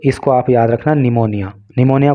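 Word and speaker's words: pneumonia: linked to निमोनिया देखिए कई बार निमोनिया की स्पेलिंग बहुत सारे लोगों को याद नहीं होती क्योंकि जब हम हिंदी में बोलते हैं तो निमोनिया बोलते हैं लेकिन इसकी स्पेलिंग जो है पी से स्टार्ट होती है यह बात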